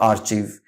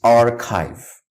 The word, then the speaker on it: archive: how you pronounce it it's not archieve it's not archive it's not our tube its archive archive that's the correct pronunciation I am a fan